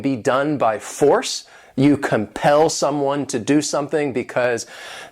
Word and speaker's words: compel: This word has 2 syllables and the stress is on that second syllable, compel.